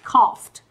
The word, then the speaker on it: coughed: Cách viết mà khi kết thúc là GH thì thường bật cho cô là F. Khi phát âm thường bật là F. Đấy. Cho nên cái từ này có nghĩa là ho và chúng ta đọc là coughed.